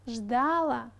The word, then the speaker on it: ждала: Рекомендуется говорить «ждать», «ждал», «ждала», «ждали», «ждала».